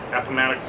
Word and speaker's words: Appomattox: Yeah, we went to, I can't pronounce it, Appomattox? Appomattox Courthouse, yep.